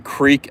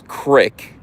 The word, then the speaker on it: creek: I know you don't pronounce creek crick.